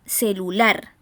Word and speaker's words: celular: Primera palabra, celular. Encontramos que la sílaba en la cual se carga la voz, la sílaba tónica, es la última, ¿verdad?